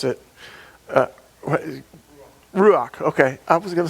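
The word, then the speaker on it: רוּחַ: uh and i don't i i probably couldn't pronounce it ruach okay i was gonna say that but i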